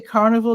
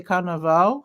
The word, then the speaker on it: carnaval: They don't say carnival, they say carnaval.